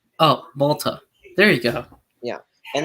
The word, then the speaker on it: Malta: What was it called again? Malta. Malta. Is that how you say it? Yeah. It's basic. It's Malta. Oh, Malta.